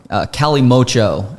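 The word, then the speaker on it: Kalimotxo: It's called Calimocho is how you say it. It's got an X in the name.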